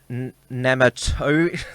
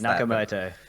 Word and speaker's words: Nakamoto: under the pseudonym as Satoshi nematode and you mispronounced nakamoto yes and I have